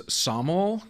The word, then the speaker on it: sommelier: stop saying uh Somalia my pneumonic device was soml kind of like the pel horse that they use in Olympic gymnastics so soml and then